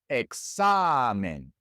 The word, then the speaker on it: examen: Examen ends with an N, and so just as in words that end in a vowel, the natural stress goes on the second to last syllable. Examen.